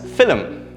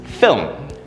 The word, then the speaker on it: film: also very commonly mispronounced we usually pronounce this word as film right uh there are two or sometimes three syllables when we pronounce it film this is again incorrect the correct pronunciation is film film right film is just one sound one syllable no breaking down of the sounds one syllable film let's look at one